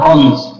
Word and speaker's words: honest: Escucha la pronunciación de honest. Honest. Honest. ¿Ustedes creen o escuchan honest. El sonido de la H?